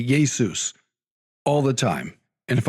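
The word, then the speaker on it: Ἰησοῦς: And and I I say that because I say Yesus all the time and if I can say Yesus I can say Yahweh. And just for the listeners that's the Greek way of pronouncing Jesus.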